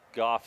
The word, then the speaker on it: Goff: Goff is the proper pronunciation there.